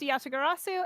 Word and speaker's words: Yatagarasu: it's pronounced Yatagarasu.